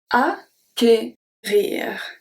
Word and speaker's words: acquérir: Another letter combination that we have is C, Q, U, and it also makes the sound of a hard C. You won't find it very often, but it's good to know that it's not pronounced k, you know, you don't have to do it twice. It's only the sound of one hard C.